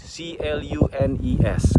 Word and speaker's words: Clunes: Dan ini ada di Clunes, bacanya Clunes, C-L-U-N-E-S, Clunes.